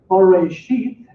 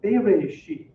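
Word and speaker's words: בראשית: Origen, using the Greek, wrote that it could be pronounced Bereshit or Bereshit. Okay, Bereshit or Bereshit. You notice the difference, Ba or Be at the beginning.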